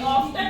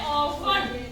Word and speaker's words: often: quite often, इसको हमने often नहीं बोलना, इसको बोलना है often। डी जो है इसमें साइलेंट रहेगा, तो इसका मतलब है अक्सर।